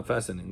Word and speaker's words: fastening: also be fine so you're saying fastening fastening the T is silent uh fastening okay uh their garments around their arms by stretching and tightening also fastening Okay.